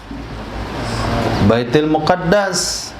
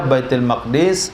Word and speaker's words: Baitul Maqdis: Baitul Muqaddas. Boleh dua cara baca, Baitul Maqdis atau Muqaddas.